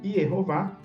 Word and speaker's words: Yehová: Yeho, primeira sílaba, Vá, segunda sílaba, cada uma delas bem